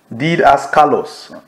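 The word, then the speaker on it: didaskalos: did Asos did did did as colos Asos did as Callos I mean did as Callos did as I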